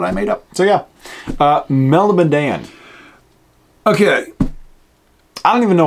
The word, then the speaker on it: Melniboné: I pronounce it Melniboné. Meldibonian is how other people pronounce it.